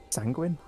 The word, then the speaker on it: sanguine: the first word here sanguine like penguin but with sand yep pretty much that